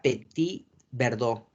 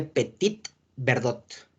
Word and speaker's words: Petit Verdot: la Malbec y la Petit Verdot. Se escribe Petit Verdot, ¿ok? Las T's en las palabras francesas no se pronuncia, ¿ok?